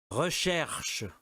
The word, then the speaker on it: recherche: ok, mas outra aí, o primeiro, recherche, é bem difícil o R, e o U também.